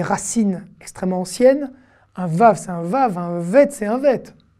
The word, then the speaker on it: vav: déjà son sa prononciation le vav à se prononcer ve mais vous allez me